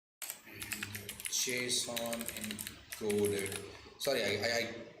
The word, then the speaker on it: JSON: encoding to Jon Jon creator of Json wanted it to be pronounced as Jon you might have heard